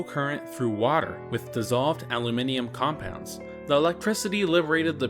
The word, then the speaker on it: aluminium: Incidentally, I use the international pronunciation, aluminium, instead of the distinctly American aluminum.